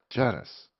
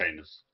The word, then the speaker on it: Janus: It's anus. Doesn't look silent. It's written right there. How is a letter silent? And in our culture, the J is silent.